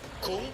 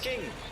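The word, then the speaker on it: Küng: So, as English speakers, you are drawn to saying kung. He says himself, it's pronounced king, which makes it easier.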